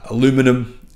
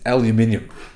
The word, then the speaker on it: aluminium: it's just aluminium oxide sorry Americans but that's how you correctly pronounce uh aluminum it's aluminium anyhow basically they're saying